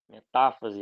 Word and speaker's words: metáfase: também então profase prometafase metafase anafase e telofase a pronúncia costuma variar em português a gente fala prófase eh metáfase anáfase telófase eles mudam a a vogal tônica mas é basicamente a